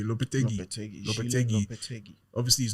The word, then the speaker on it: Lopetegui: Lopetegui.